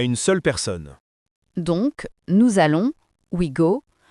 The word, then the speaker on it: nous allons: On dit nous allons. Répétez, nous allons. Attention à la liaison. Si vous prononcez bien, ça fait un son Z entre nous et allons.